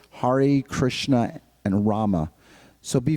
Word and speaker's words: Hare: Not that we say, Hare, Hare, Hare, Hare Krishna, Hare, or, Hare, Rama, we roll the R's, or we say Hare. No, it's Hare, Krishna, and Rama.